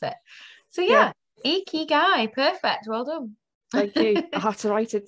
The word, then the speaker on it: ikigai: gave her a crash course in how to pronounce it so yeah icky guy perfect well done thank you i had to